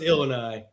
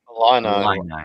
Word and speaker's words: Illini: Illini, whatever.